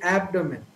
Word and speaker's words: abdomen: pronunciation of this word the stress is given to the first syllable so typically the right pronunciation would be abdomen but most of the